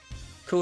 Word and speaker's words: coup: Coup is a very French word. Yes! Yes, it is. That's why I said that one. I said that one correctly. I didn't pronounce the P, but I've never seen